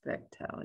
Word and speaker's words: Bechtel: think it's polite to say their name is bechtel yes bechtel bechtel sorry thank you maybe you were the one that said that bechdel no no i i'm always doing bechtel but thank you bechtel um so um oh